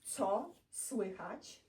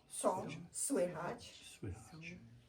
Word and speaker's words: co słychać: The first one, the way you pronounce this is co słychać. Co słychać.